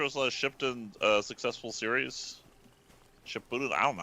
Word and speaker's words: Shippuden: Shippuden? I don't know how to pronounce this stuff. Shippuden. Shippuden, there you go.